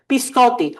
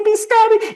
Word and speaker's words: biscotti: Biscotti. Oh, please don't say biscotti. Please don't say biscotti. It's biscotti.